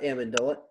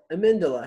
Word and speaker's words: Amendola: get marcus amidola amindala that's how you say it not amendola amindala how's it going my